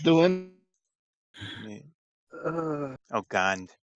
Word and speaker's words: Gond: Uh, Oh, Gond, right? Yeah, Gong. G-O-N-D. G-O-N-D. I still bad pronouncing stuff.